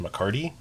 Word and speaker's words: McCarthy: There are some other sources that the last name was actually pronounced McCarty, but more often than not I saw McCarthy.